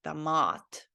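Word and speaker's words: томат: because I didn't know that in this word tomat, the O is also pronounced like ah because it doesn't have any emphasis on it. So it is meant to be said like damat, like an ah letter, damat.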